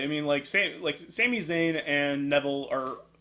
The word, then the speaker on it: Neville: Is it Neville or Neville? I've heard it pronounced both. I just go to Neville. It's always Adrian Neville. Adrian on NXT. Yeah, Adrian Neville. So I think it's Neville.